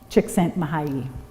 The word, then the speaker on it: Csikszentmihalyi: envious of people with a 5-syllable last name. 10 consonants. But that is not why I chose to quote Csikszentmihalyi.